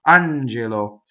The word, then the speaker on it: angelo: on JLo on JLo so the accent is on the first syllable in this word it's non-typical stress and both of the other vowels are closed the e yo on j.lo Angelo now we have a